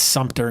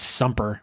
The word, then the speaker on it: Sumter: It's Sumter, not Sumper.